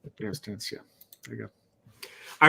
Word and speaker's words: Eratosthenes: I can't pronounce the name. Eratosthenes? Eratosthenes, yeah.